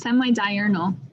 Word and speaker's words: semi-diurnal: Pansky, please pronounce that word correctly because I know I butchered it. Okay, it's semi-diurnal.